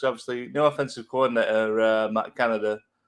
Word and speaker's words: Canada: no offensive coordinator, Matt Canada. I think that's how you pronounce it. It's spelt like the country, so I'll pronounce it like that.